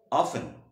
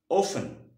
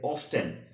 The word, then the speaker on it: often: এবং এই অফেন এই ওয়ার্ডটা সঠিক উচ্চারণ করতে গেলে আমাদের দুটো সিলেবল লাগে।